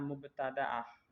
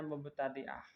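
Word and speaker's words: مبتدأة: jadi perempuan yang baru mulai keluar darah namanya mubtada'ah ada yang membacanya mubtadi'ah.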